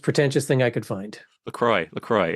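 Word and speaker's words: LaCroix: Anyway, I'm having a uh PMPlamoose Laqua because it was the most pretentious thing I could find. Lacroy. Lacroy. It's It's pronounced Lacroy.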